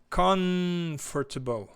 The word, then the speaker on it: comfortable: Comfortable. Tá? Tenta... É o Chris, né, que tá perguntando? Chris, tenta falar com o M mais pronunciado, ó.